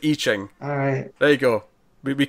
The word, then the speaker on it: I Ching: Oh, by the way, it's not I Ching, it's I Ching. One of our regulars has commented on the last 2 issues we discussed on this, correcting our pronunciation, and I said, I promise I'll remember next time, and I haven't been. I Ching. I Ching. It's pronounced I Ching.